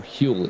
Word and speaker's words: Hull: Lindgren only 1.4 seconds off of Hull as well, or Huel even, as you would pronounce it.